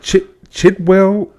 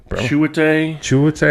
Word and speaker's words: Chiwetel: How do you pronounce it? Chitwell. I don't know how to pronounce his name. Chiwetel. I had to break that. I'm going to tell you like my dad told me how to read. I had to break it down into syllables.